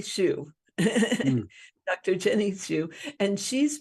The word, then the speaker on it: Hsu: I can never say it right. HSU, Jenny Shu.